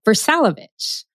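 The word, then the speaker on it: Vrsalović: one of our free marketing reviews with ver salovich also known as for very good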